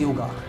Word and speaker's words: yoga: They call it as yoga, but the proper word is yoga. Spelling wise, if you say it is correct, Y-O-G-A is a correct spelling, but when you pronounce it, you should not say yoga. You should always say yoga.